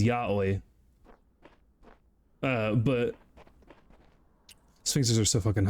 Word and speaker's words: Yahweh: Someone in my Discord pronounces Yahweh like Yoi unironically. Ooh. Like, I know the correct is Yahweh.